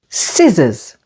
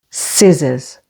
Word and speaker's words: scissors: Lim and thumb C is silent after an s like in the words muscle scent scissors the stress here is on the first syllable scissors D is silent before